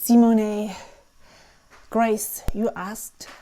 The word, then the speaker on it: Simone: My name is actually pronounced in German. The way that everyone would pronounce it is Simone. It's a short sound at the end. However, and a long O, Simone.